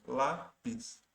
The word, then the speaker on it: lápis: como você pode ver lápis a sílaba tônica ali o acento está na penúltima sílaba lápis e fubá Você pode